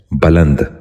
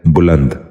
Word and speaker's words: بلند: سبق شروع کرتے ہیں۔ پہلا لفظ ہے بلند۔ یہ غلط تلفظ ہے، درست تلفظ ہے بلند۔ دوبارہ سنیے، بلند۔ بچوں